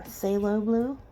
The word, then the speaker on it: phthalo: phala blue and our phthalo blue I don't think you pronounce they're enunciate the pH um and this middle purple pink is quite nice I really like that phthalo green like say hello green anyway there's some really